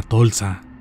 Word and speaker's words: Tolsa: Esta era anteriormente conocida como la Avenida Munguía en la parte norte y al sur como Avenida Tolsa, sin acento en la A, como popularmente se tiene entendido.